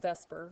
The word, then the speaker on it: VSEPR: It's called VSEPR, even though phonetically that's not what it looks like, but it stands for